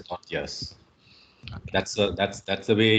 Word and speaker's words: tortilla: my friend told me you don't you don't pronounce it as a tortillas as it is in the spelling but you call it as thought yes that's that's that's the